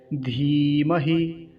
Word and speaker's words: धीमहि: और जो ह्रस्व इकार होता है, छोटी ई की मात्रा होती है, उसको शीघ्रता से बोला जाता है। तो कैसे उच्चारण करेंगे, धीमहि, धीमहि, ऐसा।